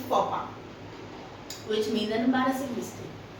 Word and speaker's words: faux pas: अगर आप इसे ऐसे पढ़ेंगे तो आप पढ़ेंगे फॉक्स पास. लोमड़ी चली गई. But the exact pronunciation is faux pas, which means an embarrassing mistake.